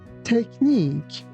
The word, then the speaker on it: technique: Here be careful that ch doesn't sound like ch. It sounds like c.